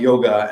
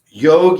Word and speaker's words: yog: the reason i say yoga nah yoga is because i'm stubborn the real pronunciation in sanskrit is yog yog without the the